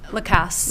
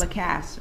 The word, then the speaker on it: Lacasse: Jeff Lacasse. I'm sorry, how do you pronounce it? Lacasse. Lacasse.